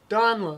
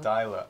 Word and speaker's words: Donla: The S is silent, Don. Donla. Dyla. Donla. Yeah, Donla.